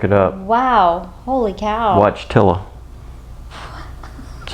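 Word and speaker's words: Wojtyła: had to look it up wow holy cow watch tiller that's how you pronounce it all right yeah 1973 october 23rd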